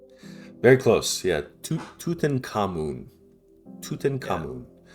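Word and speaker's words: Tutankhamun: Uh Tatan Conman. Very close. Yeah. Tut Tuten Kamun.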